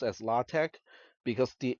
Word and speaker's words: LaTeX: is Greek that's why it's not pronounced latex it is pronounced latte without the s sound it's a type setting